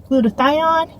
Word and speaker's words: glutathione: Glutathione.